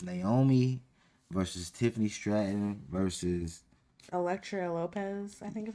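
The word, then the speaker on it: Elektra Lopez: And this last matchup is Naomi versus Tiffany Stratton versus Electra Lopez, I think is how you say it. yes, Electra Lopez.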